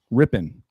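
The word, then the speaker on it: Rypien: How do you pronounce that last name, Rambo? Ripien? Rippin.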